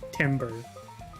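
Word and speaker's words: timbre: she has a nice tomber curious pronunciation of tomber was like Timber that's like yes the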